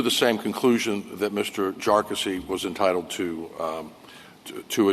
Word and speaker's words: Jarkesy: for these claims and by the way it's pronounced jassy uh not not a number of other ways that that it's been pronounced by by many um the the bottom